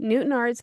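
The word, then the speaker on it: Newtownards: Newtonards Oh, I said it right. Newtonards counting down Ireland, a man who would later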